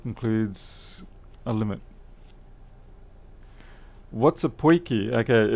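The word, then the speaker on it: potjie: enough, to finally get to taste the poiki at the end of the night.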